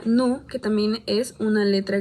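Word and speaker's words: ν: Relacionado con esto está v, que se pronuncia nu, que también es una letra griega, que representa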